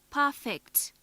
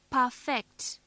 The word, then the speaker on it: perfect: If stress is on the second syllable, then it is a verb.